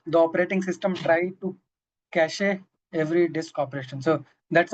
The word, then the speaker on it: cache: Hazel says Cashi says C. And we all we all feel that it will be like cache but people who are from technical background would say it is pronounced cash just cash of memory.